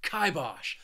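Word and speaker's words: kibosh: and that is kibos this word has two syllables and the stress is on that first syllable and I just like saying it with a lot of emphasis and energy kibos to put the kibos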